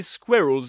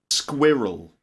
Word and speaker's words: squirrel: Squirrel. Squirrel. Squirrel. Squirrel. Just pretend it's spelled like this.